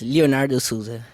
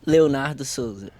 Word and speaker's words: Leonardo Souza: Is that the right way to say it? Yes, Leonardo Souza. All right, fantastic. In English and in Portuguese is Leonardo Souza.